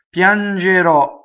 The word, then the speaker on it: Piangerò: Piangerò, future tense, I will cry, I will weep, right? Ends with a strong O on accent on the last syllable, right? And there's an O accent. Most O's that are accented at the end of a word in Italian are open.